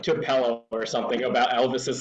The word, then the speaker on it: Tupelo: I also knew that you were expecting like Tupelo or something about Elvis's like home city or something. I guarantee that. It's pronounced Tupelo, and I've been there.